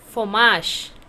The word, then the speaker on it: fromage: Is fromage. How to pronounce?